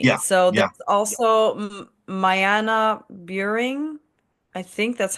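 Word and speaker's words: Myanna: there's also Mayana Buring. I think that's how you pronounce it. My Anna is literally her name, Mayanna.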